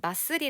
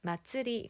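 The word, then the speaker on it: 祭り: 5 마쯔리 라고 하구요 여기에 지금 마쓰리 라고 써져 있지만 이건 항구가 표기법 쌍의 문제인거 고 원래 정확한 발음은 마츠리 가 됩니다 아츠 라는 점을 기억하세요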